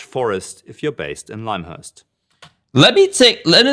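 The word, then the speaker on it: Lymhurst: Lush Forest if you're based in limehurst it's pronounced limehurst who who knew it was pronounced as limehurst every single player I've known for the past P four years calls it Lim Hurst Here We Go Again Island for your guild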